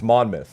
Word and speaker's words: Monmouth: Monmouth month oh myth it's not mouth noou it's mon myth also you're tied you're